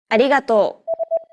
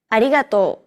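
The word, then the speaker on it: ありがとう: pronounces this sound me it sounds like a mixture between an r and an l sound me another way of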